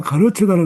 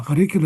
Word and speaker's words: 가르치다: 그래서 뭐 가르치다를 갖다가 계속 가르치다 가르키다 이러고 강의하는 사람 자체가 뭐 그렇게 엄태로가 이제 발음을 하는 거예요.